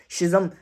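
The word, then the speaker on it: schism: कर्स शिजम शिजम या सिजम बोलते हैं इसको इसका मतलब होता है इसकी मैं स्पेलिंग भी डिक्टेट कर दूं सी एस सी एच आई एस एम एस सी एच आई एस एम सिज़म मेरे ख्याल से इसको बोला जाता है जिसका मतलब है डिवाइड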